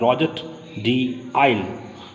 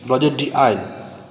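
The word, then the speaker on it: Rouget de Lisle: Pronunciation you try to understand. Roger de Isle, Isle, Isle, Roger de Isle.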